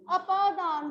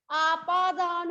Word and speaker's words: अपादान: चल, next is अपादान कारक। इसको एक तो आपादान नहीं कहना, ये आपादान नहीं है, अ है, आ नहीं है। आपादान नहीं है, अपादान है।